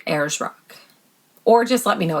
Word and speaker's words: Ayers Rock: couldn't get it so i think she said it's pronounced ayers rock she was really nice